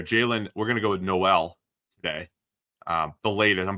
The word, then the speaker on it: Noel: latest I'm back and forth between nol and Noel we've heard both I heard danne Brugler said Noel and I like to defer to what danne said has I think danne is the pronunciation Authority when it comes to the NFL draft so I'll go with that Iowa State's Jaylen Noel